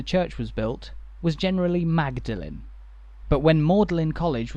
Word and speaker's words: Magdalene: why are the two pronounced differently well the pronunciation when the church was built was generally magdalene but when model in college was founded a